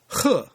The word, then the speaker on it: 和: means high or lofty H in the fourth tone means to join in the singing or to chime in this character is usually uh pronounced in the second tone and the fourth character